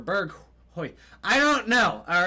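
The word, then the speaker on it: Bergwijn: You guys told me that in my comment section last video that it's not Bergwa or Bergui. It's like Bergheis or Berghoy.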